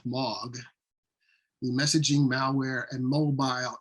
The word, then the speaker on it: M3AAWG: at this first bullet that m3aawg is pronounced log the messaging malware and